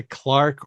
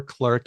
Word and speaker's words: clerk: You might have heard people say Clark or clerk.